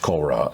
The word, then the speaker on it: Cora: Movie's titled Cora, pronounced in French, Cora.